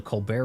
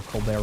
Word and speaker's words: Colbert: He was funny, in large part, in his character over on the Colbert Report, or Colbert Report, depending on how you want to pronounce that.